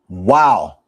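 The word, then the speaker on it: ו: That's the letter wow. Wow. That's right. The same sound that you make when you watch one of my sermons.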